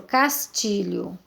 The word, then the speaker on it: Castilho: Castilho.